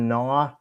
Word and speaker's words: Gnaw: Well, the G is silent. It's Sharkticon Gnaw. Like how when you're chewing or gnawing on like dogs gnawing on a bone.